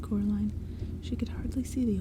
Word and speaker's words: Coraline: They kept saying Coraline, not Caroline. Not Caroline at all.